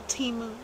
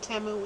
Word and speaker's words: Temu: A little Temu. I don't know. You know how it is. They want to pronounce it Temu.